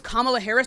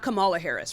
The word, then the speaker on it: Kamala Harris: Her name is Kamla Harris, not Camala Harris. Right. You're putting the emphasis on the wrong part of the word.